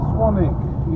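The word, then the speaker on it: Swanwick: The London Swanigan. How to pronounce it? Swanig. Swanig. Swanik. Even though it's spelled swan wick.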